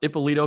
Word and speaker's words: Ippolito: Did I pronounce Ippolito correctly? Correct me if I was wrong. You did. You totally nailed it.